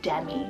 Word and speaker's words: Demi: I then have Demi, the gorgeous name Demi, D-E-M-I for the girl side.